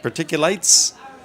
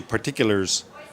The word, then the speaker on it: particulates: and more studies now I always say it wrong I think they're called particulate particulates I always want to say particulars particules they're fine it's like